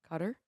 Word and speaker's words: Qatar: cup to uh Qatar Qatar if you're Middle Eastern um cutter guitar is how you would I say it can you spell it phonetically there's a D in there when you're saying it to me no just be like see you TR cause it there's a D in there there's no D anyway um whatever there's a